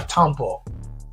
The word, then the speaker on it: tampo: Let's continue our tampo.